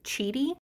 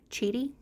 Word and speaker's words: QIDI: everybody is pronouncing this cheaty the Q is pronounced like a CH sound cheaty anyways the company had